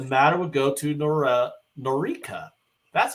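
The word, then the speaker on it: Noreika: the conditions the matter would go to Nora norika that's how you pronounce it for fact finding as she noted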